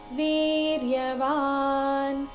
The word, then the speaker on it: ವೀರ್ಯವಾನ್: ಬರಬೇಕು ಕಾಶಿ ರಾಜಶ್ಚ ವೀರ್ಯವಾನ್ ವೀರ್ಯವಾನ್ ಕೊನೆಗೆ ಅರ್ಧ ನಕಾರ ಇದೆ ಮೂರನೇ ಚರಣ ನೋಡಿ ಪುರುಜೆ